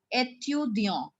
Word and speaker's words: étudiant: Now here we pronounce where there is no E in the end. It will be pronounced as étudiant.